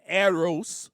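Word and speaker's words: έρως: or in Greek an aeros love. Aeros is the is how you say it in Greek because that is the type of love that means romantic love.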